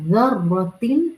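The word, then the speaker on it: ذرة: ये ज़र्रा, फमन यअमल मिस्काल ज़र्रतिन, ये ज़र्रा ज़ा की नरमी के साथ अदा किया जाता है। When you will pronounce this vowel, तो आपकी tip of the tongue will come slightly outside from front teeth incisors से।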